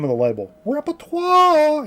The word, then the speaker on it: Repertoire: Repertoire. You have to say it like that.